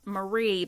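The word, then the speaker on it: Marre: their you know their last name is uh pronounced Marie but it's m a r re so after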